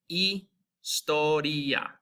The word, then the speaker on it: historia: The H in Spanish, they don't even use. So it's always silent. It's a pretty easy one to pronounce. So like in a word like this, you're going to start with that I. And as we remember from the vowels, I is going to make like that double E sound in feet. So you're looking at historia, historia.